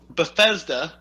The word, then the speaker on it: Bethesda: Okay, well, Bethesda. The worst part is I actually already knew how to pronounce it.